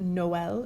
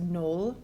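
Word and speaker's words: Noël: two vowels for example the first word noel if it didn't have the trema it would be pronounced null but by putting that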